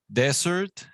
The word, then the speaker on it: desert: So desert with the accent at the beginning, desert, it is the place, a dry place with sand, as we imagine in the movies, desert, right?